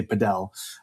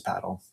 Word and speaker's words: padel: So they say pedal. But uh if you ask any Spanish person or any English- speakaking um uh person, they'll tell you that the correct pronunciation is paddle.